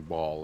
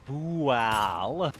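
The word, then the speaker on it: Bhaal: The main thing is we're currently fighting Ball and his followers. Oh, I see. No, we're not fighting Ball. We're fighting Bual.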